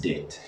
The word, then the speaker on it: duit: So that's why Caitlin said do it because it's D-U-I-T, but it's actually pronounced dit.